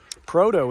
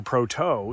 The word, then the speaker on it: Proto: uh how about Proto Proto is actually Pro Tools well that'd be Pro 2 which is actually how it's spelled Proto would be like Pro toe or t-o-w or something like that it wouldn't be Pro